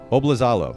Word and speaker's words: Oblizalo: me make sure i get this right too bob lazalo am i pronouncing that correctly dude you nailed it i